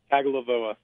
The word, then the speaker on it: Tagovailoa: Pronounce Tua's last name. Tagovailoa.